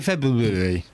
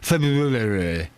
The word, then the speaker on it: February: You know when you say February when you think it's you you say that and you pronounce all the Rs. It's not a joke. That's called pronunciation. I'm pronouncing the word correctly. I'm pronouncing the R.